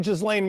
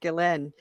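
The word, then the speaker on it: Ghislaine: never never look at jaslane maxwell that's a whole different level of like conspiracy stuff but the point is like pretty sure that name is pronounced galen she she's gonna go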